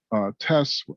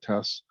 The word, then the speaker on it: TES: uh pronunciation of so there's tests there's tes there's tez there's teas some folks say the transfer evaluation system internally we just call it tests and it is again